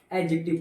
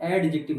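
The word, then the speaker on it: adjective: Lovely क्या है, एक एडजेक्टिव है, मैं शॉर्ट में लिख रहा हूँ, एक एडजेक्टिव है, और इसको एडजेक्टिव पढ़ते हैं, एडजेक्टिव नहीं पढ़ते, डी साइलेंट ओवर देयर, तो ये एडजेक्टिव हो गया।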